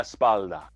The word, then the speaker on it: espalda: Leave the LD sound out and you're asking for this. Let's not make that mistake, right? Manos en la espalda.